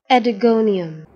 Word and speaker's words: Oedogonium: thickness and the organism is predating the correct pronunciation is adigonium lithogonium we will see its habitat habit morphology